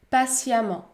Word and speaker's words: patiemment: La lettre E peut se prononcer A dans les adverbes qui se terminent par ement. Par exemple, évidemment, évidemment, évidemment. Ou encore, patiemment, patiemment, patiemment.